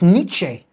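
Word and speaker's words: Nietzsche: So I think it's not nits, it's niche, something like this.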